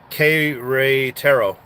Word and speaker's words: Querétaro: And thank you, Galvan, for teaching me how to pronounce the K-Retero. K-Retero.